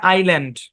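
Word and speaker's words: island: এই শব্দের উচ্চারণ কি এখানে এস টা সাইলেন্ট এই শব্দের উচ্চারণ হচ্ছে আইল্যান্ড এ বরাবর ভাগ হবে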